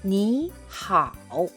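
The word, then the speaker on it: 你好: 삼성과 삼성이 만나는 경우에 앞에 있는 삼성이 양보를 합니다. 편하고 짧은 이성으로 바꿔요. 그래야 자연스럽거든요. 예를 들어볼게요. 니 하오, 니 하오.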